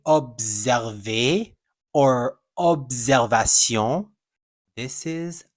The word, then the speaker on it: observer: you will see that is actually not a Z sound. It's a s sound.